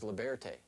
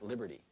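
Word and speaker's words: Libearty: studied the beanie babies this is liberte not liberty this is the princess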